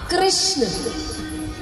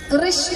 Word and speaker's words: कृष्ण: तो भगवान का नाम रखा कृष्ण। कृष्ण कहने में जीभ घूमती है, बोलिए घूमी, जिसकी नहीं घूमी गलत बोल रहा। मतलब हाँ, उच्चारण ऐसा ही है, अगर उच्चारण सही करेंगे तो जीभ घूमेगी।